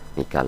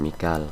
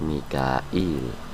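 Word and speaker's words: ميكال: dan Mikail ya Mikail Mikal itu maksudnya malaikat Mikail dibacanya kalau hafaz Mikal kalau riwayat lain ada yang pakai Mikail ya Mikail kalau riwayat hafz pakainya Mikal faainnallaha aduul Lil kafirin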